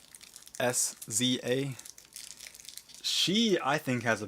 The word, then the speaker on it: SZA: SZA, I think is how you say her name. SZA. SZA.